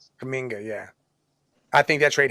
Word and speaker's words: Kuminga: Him or Kumanga or whatever, whatever the hell you say his name. Kuminga, yeah.